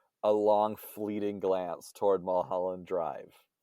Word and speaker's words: Mulholland: what's weird to me when i see it i want to say mo holland because there's a there's an oh right in the middle of it yeah it just rolls